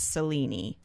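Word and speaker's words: Selene: i don't but anyway it sounds like the mythological greek mythology the way to pronounce it is cellini yeah so i guess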